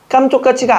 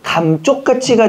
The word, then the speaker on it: 감쪽같이: 깜쪽같이가 아니죠. 감쪽같이가 되는 거죠. 원래 감쪽같이는 뭐에서 오는 겁니까? 원래는 어원이 먹는 감에서 오는 겁니다. 그렇죠? 그래서 감쪽같이입니다. 근데 우리 발음상 깜쪽같이 하다 보니까 그렇게 된 거지. 감쪽같이가 맞죠.